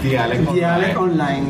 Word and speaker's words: Dialect Online: Cuéntanos, ¿cómo nace Dialect Online? ¿Lo estoy pronunciando bien primero? Sí, okay. Dialect Online.